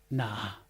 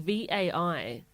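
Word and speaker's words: ναι: Nah. That's really confusing, right? And it's spelt like VAI, and it's pronounced na, and it means yes.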